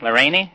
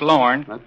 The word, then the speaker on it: Lorne: They'd say, how you spell it? L-R-A-I-N-E? Lorraine? No, I said it's pronounced Lorne.